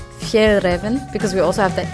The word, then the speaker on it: Fjällräven: For you guys who doesn't have that letter in the alphabet, it's pronounced A. So it's like A-E, A. So it literally sounds like A without the dots in my language. So the A with the 2 dots, it's A.